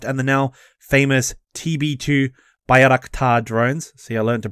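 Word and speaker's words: Bayraktar: ground attack aircraft and the now famous tb2 bayarakta drones so i learned to pronounce it correctly pound russian air defense systems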